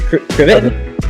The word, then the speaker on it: Krivit: Is that pronunciation correct? Krivit?